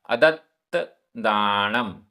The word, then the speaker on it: अदत्तदाणम: अदत्तदाणम, आधा ता पूरा ता, अदत्तदाणम, अदत्तदाणम।